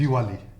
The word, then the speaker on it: Diwali: Jim Brady for And that holiday, pronounce it again. what's- Diwali.